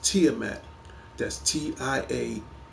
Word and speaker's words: Tiamat: me and I'll tell you right now it's pronounced Tiamat that's TI i a m a a t